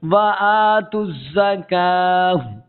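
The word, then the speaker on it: وَآتُوا الزَّكَاةَ: अब इस वाव को भी नहीं पढ़ेंगे, ये वाव भी साइलेंट है, ठीक है। और काफ को क्या करेंगे कि खींच कर इसका यहाँ पर स्टॉप करेंगे और यहाँ इस ता को साकिन कर देंगे।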